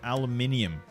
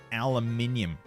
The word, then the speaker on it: aluminium: Rubber, bigly, and aluminium. Aluminium. That's how you pronounce it. Aluminum.